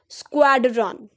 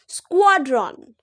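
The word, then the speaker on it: squadron: भी होता है यह most of us pronounce it एज रंग वी से इट एज स्क्वाड्रन स्क्वाड्रन but this is रंग इसका राइट प्रोनंसिएशन है स्क्वाड्रन एस क्यू यू ए डी इसको एक साथ प्रोनाउंस करेंगे स्क्वाड्रन स्क्वाड्रन गॉट it let's move to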